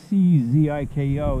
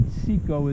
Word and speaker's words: Cziko: Cziko is the Hungarian pronunciation. I typically say Cziko in English, although my family members tend to say Cziko, who share the same name and who call me by that.